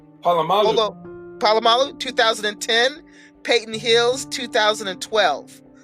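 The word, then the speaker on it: Polamalu: So Michael Vick, 2004, Donovan McNabb, 2006, Sean Alexander, 2007, Vince Young, 2008, Brett Favre, 2009, Troy Palomu, how do you say his name? Palomalu.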